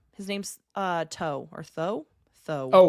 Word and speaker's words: Thoth: His name's uh Toe or Tho. Tho. Oh. Uh yeah. Yeah. Yeah. Wait, it's not Thoth, is it? It is Thoth, but you don't say the last th.